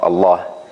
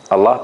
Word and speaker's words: Allah: we have a Kasra then this Kasra will make the word Allah pronounced with a soft lamb so we say we